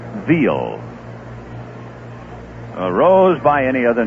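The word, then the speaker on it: Veale: Then there was a big left-hander with the Pittsburgh Pirates who said his name was Bob Veely. Strike 2 pitch to Tony outside. And then after he had been around the league for a couple of years, he pronounced it Veal.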